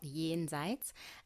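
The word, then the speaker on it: Jenseits: the gen seats so i'm half german and yeah it's basically a german word it's called yi enzytes and it has the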